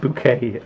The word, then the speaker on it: Bucket: Sue says Dan Bucket, but it's pronounced bouquet.